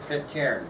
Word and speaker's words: Pitcairn: Pitcairn, very good. Good pronunciation too, John Pitcairn.